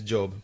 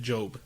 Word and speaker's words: Job: country, my name is Job, by the way. and a lot of people have trouble pronouncing it because Job. Spells like job. Yeah, but you read it Job. Yeah, like the Bible Job.